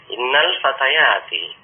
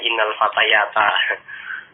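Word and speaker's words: إنّ الفتياتِ: Sungguhnya para remaja putri itu ya, ini tanda nasabnya adalah kasroh di sini. Kalau masih belajar kadang-kadang bingung ya, bingung. Oh, pokoknya tanda nasab itu fathah, nanti bacanya innal fatayata.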